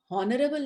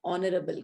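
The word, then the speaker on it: honourable: इन पांचों में से तो ये नहीं है, लेकिन इसका उच्चारण ओ से है, क्योंकि हम हॉनरेबल नहीं कहते हैं, ऑनरेबल कहते हैं।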